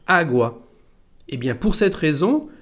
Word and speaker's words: agua: agua qui signifie eau quand on le prononce vous entendez que l'accent porte sur la première lettre agwa et bien pour cette